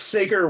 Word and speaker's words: Sager: this time it's with jacob sagger is it sagar it's sega it's the world's tiger